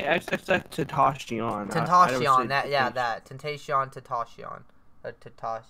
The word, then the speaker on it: XXXTentacion: It's XXXTentacion.